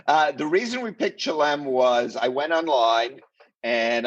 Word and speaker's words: Chelem: you landed in shalom how do you say it yes why why chlam it's a small town fishing village it's closest to some restaurants no uh the reason we picked chilem was i went online